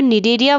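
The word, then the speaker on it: Cnidaria: चलिए तो निडेरिया और सिलेंट्रेटा के बारे में बात करने से पहले हम बता दें कि जो निडेरिया वर्ड है इसमें जो सी होता है वो साइलेंट होता है, राइट।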